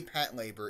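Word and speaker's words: Patlabor: were uh angel's egg pat labor the ova series i've seen the first episode of pat labor pat labor oh they they say pet labor in the show so i thought that's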